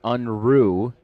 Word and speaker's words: Unruh: And I have been pronouncing Josh's name wrong this entire time. But Josh is all in. It is Josh Unruh.